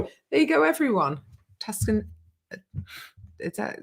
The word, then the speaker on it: Tucson: Tuscan. Is that how it's said? Tucson, Yeah.